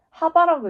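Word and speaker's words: ħ: 2파분의 하는 하바라고 읽는다.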